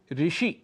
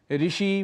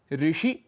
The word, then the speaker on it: ऋषि: शांति शुद्ध है शांति ऋषि शुद्ध है ऋषि हम कह देते हैं ऋषि मुनि जबकि शुद्ध उच्चारण है ऋषि मुनि उच्चारण के समय